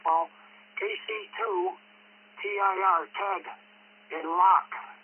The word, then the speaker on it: Locke: KC2 TIR Ted in Locke, LOCKE, silent E on the end, New York.